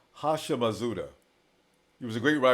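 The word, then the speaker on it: Houshmandzadeh: a pronun on the black says TJ is pronounced hasham mauda he was a great wide receiver in the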